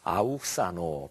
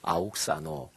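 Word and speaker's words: αὐξάνω: 헬라어 단어 하나 말씀드리겠습니다 아욱 사노 발음을 그렇게 해요 아옥 사노 근데 예수님께서이 단어를 쓰셨는데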